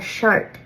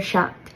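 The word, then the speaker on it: seacht: 7 is a shocked. You'll hear some people in the north of Ireland, in the Donegal region, pronounce ACH or OCH combinations a little bit different. So you might hear a shart instead of a shocked, which sounds a little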